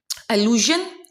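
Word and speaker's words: allusion: एलूजन, इल्यूजन, ठीक है, दोनों की प्रोनाउंसिएशन डिफरेंट है.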